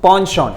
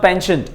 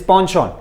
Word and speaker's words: penchant: its panchon these students it is pronounced panchon it is not penchant it is ponchon means inclination or tendency